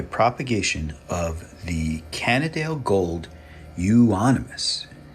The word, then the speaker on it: euonymus: update on my propagation of the canadale gold euonymus how do you like that I said it